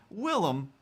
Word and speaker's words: Willem: he just decided to go with the dutch spelling and pronunciation willem which again still fine